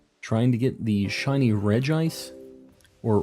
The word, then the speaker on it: Regice: to get the shiny Regice or Reggie ice depending on how you are as a person I've always said Regice it doesn't have like Reggie it'd be Reggie's anyways on on that's the